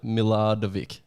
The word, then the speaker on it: Milardovic: and uh they just wanted to see me pronounce your last name so it's adam miladavik is that right hey there we go you